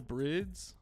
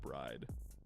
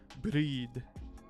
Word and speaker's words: BRIDE: with the purple brids brid it's not bride I think brid is closer than bride is but uh there's actually I've I've argued about the pronunciation of this before with people um there's an FD commercial because they're sponsored by them now and at the end it goes breed breed I don't know what